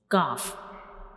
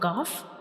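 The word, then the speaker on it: كاف: understand the origin of calf and how we pronounce calf, how we originate calf. So when we pronounce calf, the back of the tongue will touch the hard palate.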